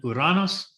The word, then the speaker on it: Uranus: And then in this outer ring is where we get planets like Neptune and Uranus. And yes, I used the Greek pronunciation on that because we've heard all the jokes, haven't we?